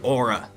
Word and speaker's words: Orla: Your Honor, sir, it's pronounced aura, like a aura, the weird hippie thing.